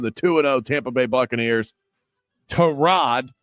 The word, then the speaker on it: Tyrod: Terrod, not Tyrod. Uh, according to Baker Mayfield, that's how you pronounce the starting quarterback's name for the Jets.